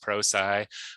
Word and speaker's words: Prosci: So Prosci, correctly pronounced pro-sigh, was founded by an engineer named Jeff Hyatt.